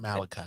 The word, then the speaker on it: Malachi: Malachi Starks. I'm sorry, Malachi. The book of Malachi. You need to spell it like the book of Malachi so I can pronounce it right.